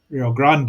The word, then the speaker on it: Rio Grande: So, it's in Rio Grande if you want to say it properly.